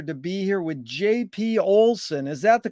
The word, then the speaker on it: Olsen: and a pleasure to be here with jp olson is that the correct way to pronunciate it it is yes thank you jerry